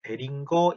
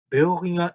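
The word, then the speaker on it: Boehringer: 그래서 베어링어 잉겔하임이라고 읽어야 돼요. 정확히 말하면 그것도. 베링거 잉겔하임이 아니라 그 베어링어 잉겔하임이라고 읽어줘야 됩니다.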